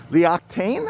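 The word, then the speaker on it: L'Occitane: our Lululemon will be I think it's pronounced Lee octane I believe that's how it is and then Frontera cocina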